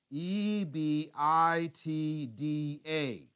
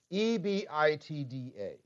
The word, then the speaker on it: EBITDA: i t d a e b i t d a uh it could be pronounced ebitda or ebitda i will tend to pronounce it ebeda that's the way i was taught but i knew some